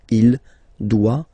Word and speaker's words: doit: Final T not pronounced. Il doit, elle doit.